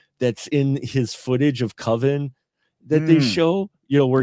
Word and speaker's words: Coven: So, It's pronounced Coven, but Coven, no.